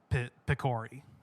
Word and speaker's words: Picori: It actually should be Pikaru or Picor, but I guess they changed it to Picori. But that gives you a general basis of how it's supposed to be pronounced. It is Picori.